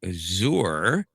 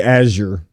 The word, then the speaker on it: Azure: And now it may have something to do with Azour or Azure, however the hell you're supposed to pronounce it. Uh, it's actually Azure.